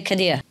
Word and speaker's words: Khiḍr: Okay, Khiḍr. With I in the middle of it.